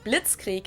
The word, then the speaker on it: Blitzkrieg: We pronounce it Blitzkrieg in German, and it literally translates to lightning war because Blitz is lightning and Krieg is war.